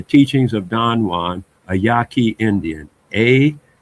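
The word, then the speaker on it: Yaqui: I think it the teachings of Don Juan, a Yaki Indian. A Q U I Yaki. I think that's how it's spelled.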